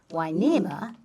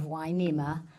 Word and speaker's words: Hueneme: Hueneme, spelled with an H and U to make the W sound.